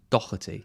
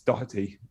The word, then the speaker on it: Doherty: It's a funny one because I think it's like Doh. It's like Doh. It's not a hard C. It's like a Doh. Doherty.